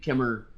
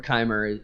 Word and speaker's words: Chimer: So I think Kimmer or Chimer, you can probably say both. Yeah, right?